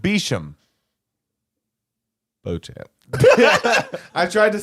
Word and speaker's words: Beauchamp: Beauchamp? Beecham. Beauchamp? No, his name is pronounced Beecham.